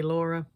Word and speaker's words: Lara: You're welcome to call me Laura if it's difficult to roll the ass. Um, but Lara is how we say my name in Finland because that's where I'm from.